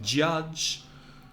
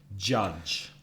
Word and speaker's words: judge: July, January, jazz, and judge, juez, has the vowel sound a, as in up. Judge. So practice that at home. Listen to me judge and repeat the word judge.